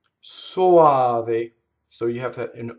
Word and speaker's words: soave: Soave. Soave.